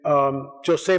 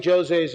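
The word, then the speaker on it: José: So they got Fina de Armada and Jose Machado, in Portuguese it's Jose, it's not Jose, it's Jose, that's how it's pronounced.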